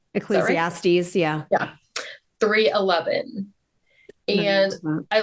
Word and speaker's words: Ecclesiastes: Ecclesiastics. Ecclesiastes.